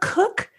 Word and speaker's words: Koch: And you know, it will help people, though, if people are curious how to pronounce K-O-C-H, is the same way as yours.